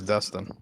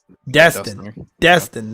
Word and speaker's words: Destin: Yeah, it's Dustin. Destin, not Dustin.